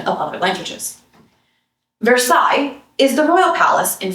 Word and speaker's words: Versailles: Versailles is the royal palace in France. In Illinois, it is pronounced with Midwestern distinctiveness, Versailles.